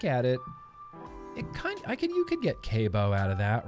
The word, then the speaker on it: C.A.B.E.O: It's pronounced CABEO.